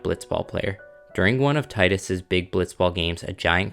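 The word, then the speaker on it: Tidus: Without spoiling too much of this magical story, you play as a boy named Titus. Apparently it's pronounced Titus, but I've been saying Titus for the past 20 years and I'm not about to change that now.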